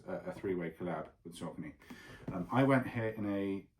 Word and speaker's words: Saucony: This is Saucony, which is how I am told it is pronounced.